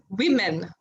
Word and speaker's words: women: It's woman is how it's spelled. But when you say it, it is women, women, women.